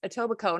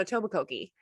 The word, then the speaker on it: Etobicoke: ever told her that it was pronounced etobicoke not a tobokoki right and but he's like